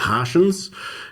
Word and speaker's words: Hartians: I call them, the Hartians. And the Hartians? Not because they're, it rhymes with Martian, and not because they're alien-like, but it's more that they're out of this world.